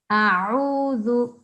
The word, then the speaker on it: أعوذ: Okay, so first of all, this is ain, not alif, yeah? A'udhu, أعوذ a'udhu. أعوذ. Yeah, so you need to practice the ain, okay? That sound is not the same as alif, it's not the same as hamza, it's different.